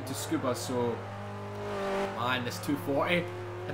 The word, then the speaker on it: Tsukuba: Tabuska, I've missed you so much, or Tsukuba.